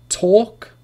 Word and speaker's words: talk: For example, for the rule is that L is not pronounced after the vowels A, O, and U. A, O, and U. There is no L sound after these vowels.